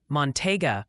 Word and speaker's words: Montague: Try saying Montega for Montague County. Give it a whirl. I think you guys are you have your own internal conflict down there about how you want to pronounce that. It's Montague, it's Montega, it's Montague. I'm calling it Montague from now on because that's what like 87,000 people told me last time.